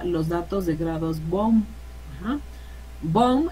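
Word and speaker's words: Baumé: datos de grados bom bom es el apellido de un francés y así se pronuncia ya nunca van a decir baume regularmente la gente ya sabe que se conoce como los grados bone entonces eso es nuevo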